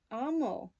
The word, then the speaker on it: Amal: So, this is Amal, or Amal? Amal. Pronouncing it in Arabic, that's how it's coming off to me.